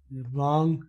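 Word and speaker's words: wrong: ये बोलना जरूरी है रॉन्ग में, रॉन्ग, हाँ जी बोलना जरूरी है, ये आईएनजी वाला सिस्टम नहीं है, आप शायद इसलिए पूछ रहे थे ना कि मैंने कहा बताया था आईएनजी में से जी साइलेंट कर लेते हैं, आईएनजी में साइलेंट करते हैं, यहाँ तो आईएनजी नहीं है, ठीक है।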